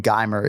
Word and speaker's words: Gamer: and of course yeah he does pronounce his nickname gimer instead of gamer I saw Ken flow's